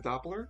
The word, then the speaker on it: Doppler: The Doppler.